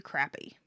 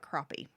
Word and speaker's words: crappie: to catch a few crappy that is how you say it right i've heard people say crappy and i've heard people call it crappie yeah it's crappy that's right it's crap it's crappy actually the fish are from